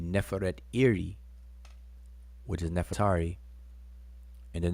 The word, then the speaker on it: Nefertari: how we pronounce it just like we say nefertiti and nefatari but that's really a conventional way we say but if you break the the name downs it would be neferet iri which is nefertari in